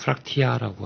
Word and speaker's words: 프락치: 이 프락치라는 말이 이제 영어에서는 이제 프락션 또는 프락터라는 말이 있습니다. 네. 그거에 이제 러시아식 발음이 이제 프락치 또는 프락티아라고 하는데, 그게 이제 많은 변형돼서 부르는 말 같습니다.